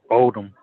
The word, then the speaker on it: Oldham: I pronounce it as it's pronounced in the dictionary. Silent H.